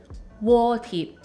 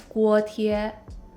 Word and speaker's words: 锅贴: Okay, for a mini Chinese lesson, here's how you would pronounce pot stickers in Cantonese. 锅贴, 锅贴. And in Mandarin, it's 锅贴, 锅贴.